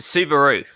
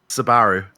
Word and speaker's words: Subaru: think we want to clarify a slight difference in pronunciation between what the aussies say and what the key we say so ryan what kind of car was our race winner driving just then it's a subaru steve sabaru you should go